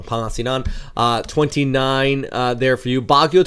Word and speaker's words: Pangasinan: And then we kick off towards the north into Manila, 31 degrees across Pangasinan. I keep on saying it wrong. Pangasinan, 29 there for you.